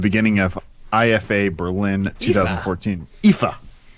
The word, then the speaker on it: IFA: IFA. It's in German. Like I cannot FIFA, pronounce it.